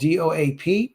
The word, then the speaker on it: DOAP: channel we will be called doap pronounced dope oh there you go